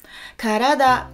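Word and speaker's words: からだ: Karada, karada, 3 syllabes.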